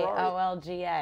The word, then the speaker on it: Olga: O-L-G-A. It's O-L-G-A, O-L-G-A. Our Lady of Grace. But it's pronounced Olga.